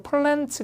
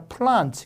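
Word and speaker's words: plants: 배우실 걸고 꾸며줍니다 그게 아까 배운 대로 플랜츠 가 아니라 프란츠 게 애가 아 발음이 된거죠 그 다음에 피해 쓰는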